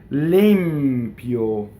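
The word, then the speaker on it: l'impio: Limpio. So now we have a double M that's not written. Why is that? Well, the M, if a consonant follows it, the M will double.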